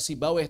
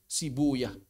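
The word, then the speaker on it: Sibawayh: Roh rohuyah kayak sibawa sibuyah. Sibuyah. Karena menurut ahli hadis itu yang paling fasih bahasa asli Persia. Bukan rohaweh tapi rohuyah. Bukan sibaweh tapi sibuyah.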